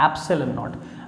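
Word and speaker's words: ε₀: ये जो 1.1 upon 4 पाई एप्सिलॉन नॉट है, this is pronounced eight एप्सिलॉन नॉट.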